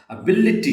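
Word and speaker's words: ability: है वो स्ट्रेस है एबिलिटी िटी यहां बी और एल के ऊपर जो है वो स्ट्रेस आता है।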